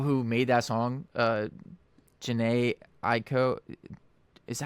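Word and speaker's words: Jhené Aiko: The fact that uh the the people who made that song uh Jana Ieko, is that how you say it? Jana Aiko.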